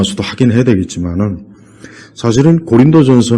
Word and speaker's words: 고린도: 4 소아시아 책이 있는 이 코린도 뭐 이렇게 뭐 원래 발음으로는 그럴 수도 있지만 우리는 이제 고린도 아 그렇게 그냥 우리 식으로 그래서 고린도 지역에 있는